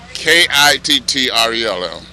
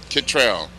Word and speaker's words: Kittrell: corporation in the annex k-i-t-t-r-e-l-l Kittrell Kittrell k-i-t-t-r-e-l-l pronounce it like a spell hi wow beautiful day